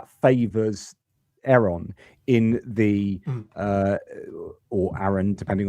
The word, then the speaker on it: Aaron: Now, as noted in the comments, the correct original pronunciation is Aaron.